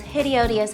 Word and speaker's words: hideodious: some mismatched endings where we would just say hideous Glenda adds two more syllables hideous hi Odus she always makes me the most hide odious hats hide odious I'm